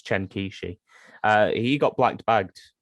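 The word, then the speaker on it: Chen Qiushi: is it chen kishi i'm terrible with chinese pronunciations but i think it's chen kishi uh he got black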